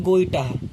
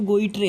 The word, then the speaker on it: goitre: जिसको बोलते हैं GOITRE, जिसको बोलते हैं गोइटाह। क्या बोलते हैं? गोइटाह। ठीक है, जिसको हम बोलते हैं गोइटाह। देखो स्पेलिंग में है गोइट्रे, GOITRE, गोइट्रे। स्पेलिंग में पढ़ोगे तो गोइट्रे है, लेकिन जब इसको बोलते हैं तो गोइटाह बोलते हैं।